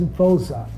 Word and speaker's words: Voza: My name is Voza. That's how they pronounce it, like Voza.